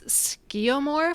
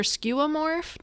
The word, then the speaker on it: skeuomorph: talk about i'm not sure i'm going to pronounce it right but i think it's skeomor for skeuomorph let's let's talk about what that is skeuomorph that is a difficult to spell and pronounce